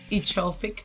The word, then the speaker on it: Ethrophic: Ethrophic Burnett. Ethrophic. Yes. So I'm not pronouncing the TH sound. Correct. It's Okay. ethrophic. Ethrophic. That's easy. It's just the TH.